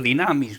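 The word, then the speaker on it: δύναμις: Y poder recibir ese poder, esa dinamita, ese dinamus, que viene esa palabra, viene de la palabra dinamus, significa, o dinamis, no sé Sí, exactamente. Dinamis es como se pronuncia.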